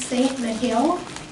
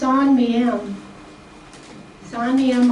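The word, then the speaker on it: Saint-Mihiel: to me it looks like it should be pronounced St. Mahil, but it's actually pronounced Sonam Sanam operation and I do have a book on that I'll talk about in a minute.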